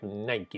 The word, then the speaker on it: Nike: la marca nike y aunque muchos decimos knight pero hemos visto ya en youtube ver una gente que hace clases de inglés de pronunciación dicen que la palabra corte se produce a nike y bueno esta famosa